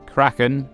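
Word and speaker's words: Craiceann: Kraken first of the deep this word is pronounced Kraken this is the Irish word for skin but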